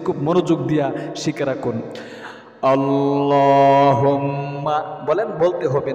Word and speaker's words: আল্লাহুম্মা: আমি স্ক্রিনের মধ্যেও দিয়ে দিচ্ছি, একবার সহি শুদ্ধ উচ্চারণটা বলে দিচ্ছি, খুব মনোযোগ দিয়া শিখে রাখুন। আল্লাহুম্মা বলেন, বলতে হবে, না বললে সহি শুদ্ধ হবে